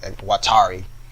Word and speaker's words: Watari: Watari, use it like Watari. I keep pronouncing my R's as a D when I pronounce it fast.